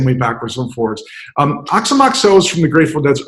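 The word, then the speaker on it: Aoxomoxoa: so uh I was never sure how to pronounce that until finally a deadhead said it's not ox on Moxon it's ox amok so it's a oxo mo ex Oh a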